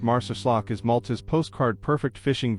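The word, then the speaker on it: Marsaxlokk: Marsac Slope pronounced Marcus is Malta's postcard perfect fishing village where time seems to move with the tide.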